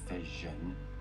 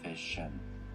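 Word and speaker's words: fission: PM Goodbeer on this, the preferred pronunciation of the latter in US is nuclear vision like vision and in the UK and other countries is nuclear fish like mission.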